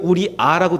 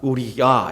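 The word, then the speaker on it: 우리야: 야라고 하던 상관없습니다 근데 원래 발음은 야에 더 가깝습니다 자 어쨌든 그 다윗이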